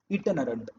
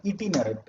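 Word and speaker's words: itinerant: आपके इसमें सिर्फ इटिनरेंट दिया है, इटिनरेंट या फिर इटिनरेंट, अलग अलग प्रोनाउंसिएशन है।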